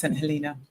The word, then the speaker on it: St. Helena: Yes, so the island is St. Helena. Spelt St. Helena, but it's pronounced St. Helena.